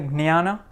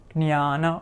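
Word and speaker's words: ज्ञान: So, but you can pronounce this as either gnya or jnya. So jnana or jnana, right? So yajnavalkya or Yajnavalkya or Yajnavalkya, you could say it like that. But so it's a gnya or a jnya.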